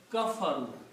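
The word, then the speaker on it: كفروا: the same rule here this will be become kafaru just put a wow and Al here but don't Pronounce Al kafaru They disbelieved the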